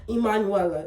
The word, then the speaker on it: Emanuela: Emanuela. It's what it's pronounced. And honestly, I love Trinity so much because she's the only one that pronounces it how it's said, you know, like Emanuela. But due to, you know, being Americanized, it became 5 syllables instead of 4.